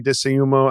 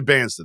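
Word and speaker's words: Dybantsa: say his last name AJ dumo I how do you say I don't DEA deanza that's right yeah sorry that's right you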